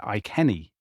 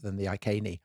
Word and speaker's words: Iceni: I noticed that you pronounced it Iceni in the last episode.